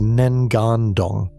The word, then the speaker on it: Ngandong: The place is called Ngandong, pronounced Nengandong, a village today, a river bend then.